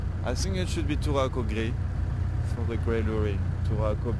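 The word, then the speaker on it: Touraco gris: I would ask Turaco Gris. I think it should be Turaco Gris for the Grey Lurie.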